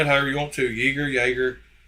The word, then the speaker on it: Jäger: Jaeger. But it comes from the German word Jäger.